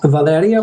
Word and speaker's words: Valeria: uh pronunciations uh translation so it's Valeria or like Leo said Valeria the V sounds like a b so go ahead Todd